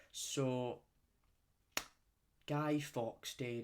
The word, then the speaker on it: Fawkes: his name was Guy Fawkes. And the way it's not like a fox, like the animal fox.